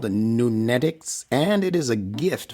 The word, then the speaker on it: Nunetics: n e t i c s and is pronounced nunetics what is nunetix that word was coined based